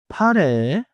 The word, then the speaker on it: 파래: 미안 역 미역 미역 미역국 파레 has two syllables 파 and 레 it is not 파란셋 the color blue.